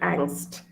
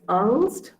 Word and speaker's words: Angst: And then the word angst. Okay, so in German, it's pronounced as Angst.